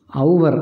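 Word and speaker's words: hour: എച്ച് ഒ യു ആർ എന്ന് എഴുതുന്ന അവസരത്തിൽ അതിൻ്റെ ഉച്ചാരണം ഔവർ എന്നാണ്. ഔവർ ഇതാണ് അതിൻ്റെ ഉച്ചാരണം. ഹൗ എന്ന് വരുന്നില്ല, ഔ എന്ന് വരുന്നു.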